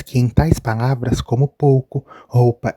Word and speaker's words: pouco: português falado veremos que o ou pronuncia-se apenas o pouco roupa louro o que temos nesse